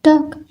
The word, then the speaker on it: टॉक: मी टॉक लेट मी टॉक एल की आवाज silent है कुछ खास नहीं नथिंग